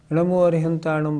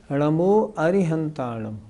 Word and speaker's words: णमो अरिहंताणं: इसका मतलब सबसे शुद्ध उच्चारण है णमो अरिहंताणं। अच्छा यदि हम अरहताणम बोले तो इससे भी कोई दिक्कत नहीं अर्थ इससे भी ठीक निकलता है णमो अरहताणं बोले तो इससे भी अर्थ ठीक निकलता है जिनके जन्म मरण